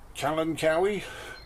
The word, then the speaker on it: Kalanchoe: so who knows that some people pronounce it um Callum Cowie uh I've been calling it kalancho I do some people